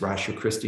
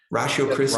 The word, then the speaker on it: Ratio Christi: Ratio Christi. Ratio Christi? Yeah, RATIO space Like CH. rational, except for the first part of rational. It's ratio. Latin for the rationality of Christ.